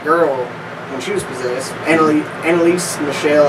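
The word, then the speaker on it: Anneliese Michel: Annalise Michelle, I think is how you say her name.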